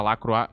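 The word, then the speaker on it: Lacroix: Eu não sabia que o nome dele isso pronunciava Lacroá.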